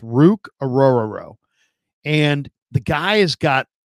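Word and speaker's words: Orhorhoro: football his La the the name is pronounced Rook oror aoo so oooo so Rook ororo I know that's a crazy pronun pronunciation but that's how it's pronounced rook aoro and the guy has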